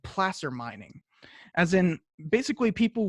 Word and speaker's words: placer: You can see over here folks doing placer mining, and by the way, it's spelled placer, but it's actually pronounced placer.